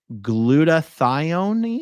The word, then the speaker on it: glutathione: At home, we also did liquid glutathione. Yeah, how do you pronounce that? Glutathione is how I choose to pronounce that.